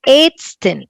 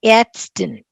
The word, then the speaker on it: Ärztin: Yeah, ich bin, this a umlaut is a b c d, that English a. Ich bin ärztin, ärztin, a r z t i n.